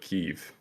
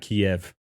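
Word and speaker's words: Kyiv: he's being called the ghost of kiev um which i learned yesterday in a brief from intel that's how you actually pronounce it not kiev yeah um and we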